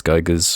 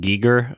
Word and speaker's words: Giger: It's pronounced Giger, I believe. H.R. Giger. Sorry, Giger. I was going to say, I think so too. I think it's Giger, yeah.